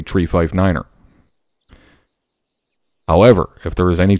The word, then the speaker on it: niner: 9 3 5 & 9 pronounced phonetically is tree-like the thing with leaves on it 5f IFE and Niner everybody knows Niner now it does not